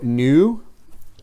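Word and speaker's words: νῦ: Mu, siguiente letra, nu, exactamente lo mismo, la misma explicación en cuanto a la pronunciación se aplica aquí voy a pronunciarlo new.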